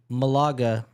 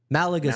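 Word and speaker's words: Málaga: So, Blading Camp is an all-inclusive skate experience in Maaga, Spain. Malaga, Spain.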